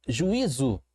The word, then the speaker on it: juízo: Só que eu percebi que o i ficou sozinho e, na verdade, eu tenho um hiato aqui. Ó. Juízo. Esses dois tons foram separados. Essas duas vogais foram separadas quando a gente pronuncia e quando nós fazemos a separação silábica.